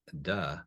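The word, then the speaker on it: 德: that feminine aspect and da which looks like Tay um is actually when we think about the Dowda Jing this is that duh and the Dao da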